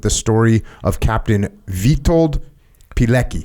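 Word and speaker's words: Pilecki: story of Captain vitto pki am I saying that right petki petki yes in 1940 Captain petki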